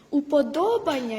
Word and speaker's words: уподобання: я йду прощавайте мої уподобання змінюються я стала більш уважною до свого мовлення це добре але правильно наголошувати уподобання як подоба Красно дякую Я навіть